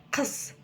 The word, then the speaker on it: қыс: Қыс, қыс, қыс. Вот теперь скажите кыс-кыс, а теперь твердо. Кыс-кыс.